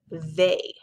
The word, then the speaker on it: they: Now the oddball in this sort is the word they, because you hear a long A sound, but you don't see any of these letter combinations.